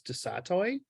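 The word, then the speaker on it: du Sautoy: called The Creative code um I'm going to butcher the person's last name but it's Marcus de satoy it's s-a-u-t-o-y and one of the things that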